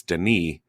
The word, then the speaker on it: Denis: the first i know the pronunciation of the first name that the s is silent it's denis uh villanuev something like